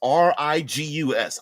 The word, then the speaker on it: Rigus: But when the train lets us off, we're going to get off at RIGUS, R-I-G-U-S. I like pronouncing it RIGUS.